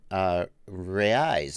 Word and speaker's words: reais: MC's Creations wants to know in the super chat 10 reais, I think.